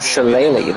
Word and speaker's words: shillelagh: Shillelagh, that's how it's pronounced, the shillelagh.